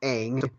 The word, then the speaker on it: Aang: And so, and also the movie mispronounced a bunch of names that, like it's not Ong, it's Aang.